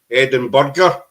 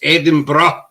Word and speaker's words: Edinburgh: hear Americans prob about Ed go edin bro Eden Burger got they different and you s there it's Eden bruh Eden bruh you know that's that's it's pronounced